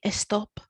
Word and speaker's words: stop: as a spelling but it's still pronounced with the e so they kind of say estop or if you wanted